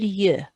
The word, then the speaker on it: yeux: An That means an I, but if you've got two I's, you say deux yeux.